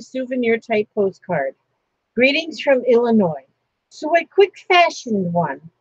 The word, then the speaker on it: Illinois: There's another one of those wasted letters. That's what just gets to me, is those silent letters, you know. Why does Illinois have an S on the end? Why'd they put it there? I don't know why. Because it's not used.